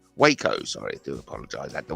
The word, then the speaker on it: Waco: the cult leader at the wacko I think I pronounced that Waco sorry to apologize at